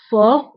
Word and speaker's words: fort: قوي fort fort هنا أيضا تي لا تنطق في آخر الكلمة fort.